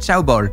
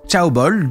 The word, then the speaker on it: chaebol: Je l'ai prononcé en mandarin parce que j'apprends le mandarin en ce moment, je ne sais pas si c'est la même prononciation, je me doute que non. Normalement, c'est comme ça, ce selon Google.